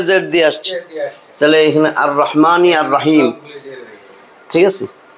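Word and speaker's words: الرحمن: তান দুইটা পেশ আর রহিমু এইখানে কি হবে আর রহমানু আর রহমানু এটা তো বুঝছো না আর রহমানু আমরা আলিফ লাম লামের উচ্চারণ হইতেছে না কারণ এটা হুরুফে শামসিয়াত আর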